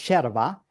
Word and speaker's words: yerba: It's almost exactly like a tea leaf called yerba. Yerba is how we pronounce it. You will write it yerba or yerba, like with a Y.